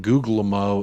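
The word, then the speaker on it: Guglielmo: do need some outgoings the second G and Google MO is silent googlemo I I like googlemo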